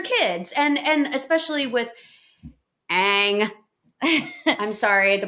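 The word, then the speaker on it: Aang: and and especially with Ang I'm sorry the pronunciations in that film just drove me nuts in the movie they call him on but his name is ang in the in the cartoon his is I think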